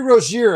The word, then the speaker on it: Rozier: It's Terry Roier, everyone. It's the way it's been sounding for a long time and they just couldn't couldn't quite grasp it.